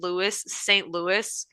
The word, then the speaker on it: Louis: It should be pronounced Louis.